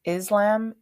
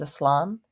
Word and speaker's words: Islam: God pronunciation matters and it is important to note that the s in both Islam and Muslim sound like S's and not saids the pronunciations Islam and Muslim are incorrect